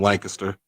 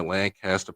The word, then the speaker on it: Lancaster: linebacker from Lancaster, and I always got to tell people the way you pronounce this. Most people say Lancaster, California, Lancaster, Pennsylvania. No, here in Texas we say it Lancaster. Lancaster. That's what we call it.